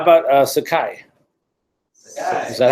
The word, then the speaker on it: Sakai: How about Sakai?